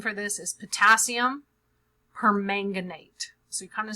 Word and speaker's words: permanganate: The name for this is potassium permanganate. So you kind of say every syllable there. Don't skip them. So permanganate.